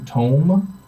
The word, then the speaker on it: tome: You notice a large tome.